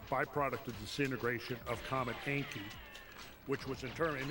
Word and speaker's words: Encke: So, and it's spelled a little different, E-N-C-K-E as opposed to E-N-K-I.